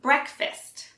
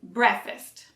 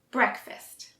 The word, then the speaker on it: breakfast: fist instead of fast we also say it quickly breakfast so the k may sound soft but it is pronounced so don't say breakfast you need to pronounce the k breakfast let's do it breakfast